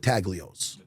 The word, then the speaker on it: Taglios: And he goes, "Look, you got to try at the time, he was calling it Tagios. You can't you got to forgive them." N G is silent like lasagna.